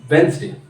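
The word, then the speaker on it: Wednesday: Even real life से भी आप रिलेट कर सकते हैं, जैसे कि वेंसडे, तो वेडनेसडे लिखते हैं लेकिन उसे प्रोनाउंसिएशन कहते हैं वेंसडे।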